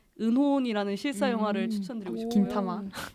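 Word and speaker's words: 銀魂: 긴타마. 네. 이게 일본 발음입니다.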